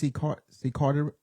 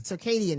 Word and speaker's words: circadian: See, I think it's Carter. Circadian. Circadian. Circadian. That's it. Circadian rhythm.